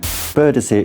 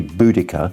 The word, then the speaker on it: Boudicca: Boudicca is wrong. It should be Boudicca.